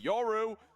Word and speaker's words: Yoru: Sorry, oh my god, I keep pronouncing him like he's got a U in his name. Yoru!